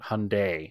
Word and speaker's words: Hyundai: uh we'll give him credit for that but Hyundai is how it's actually pronounced I obviously don't remember those commercials because in that era I was like 5 years old but anyway Hyundai dad take it you're old see I wasn't